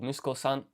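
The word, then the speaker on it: 息子さん: And so what we'll do here is, this is the kanji with a reading of musu. So this is strokes 8, 9, and 10. And then we just stick the child radical here, right? Because the son is someone's child. So this is musko. And then we stick san at the end, san, to make it honorific for total of musko-san.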